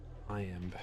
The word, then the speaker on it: iamb: How do you pronounce it? I am. IAMB. IAMB. Like iambic pentameter.